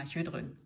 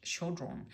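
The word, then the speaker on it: Chödrön: I don't know how to say it in English, because we have this Ö in German, so she is Pema Chodron in German. But I have heard her name in English, Chodron.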